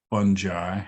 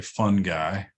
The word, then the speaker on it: fungi: uh by the way some people say fungi as I do and others say fun guy um I guess you